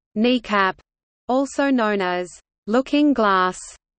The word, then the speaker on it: NEACP: SAC also maintained the National Emergency Airborne Command Post (NEACP), pronounced kneecap, also known as looking